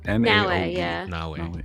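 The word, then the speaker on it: Naoe: 10 correct yeah let me get closer it's na na okay and I was saying yuk for the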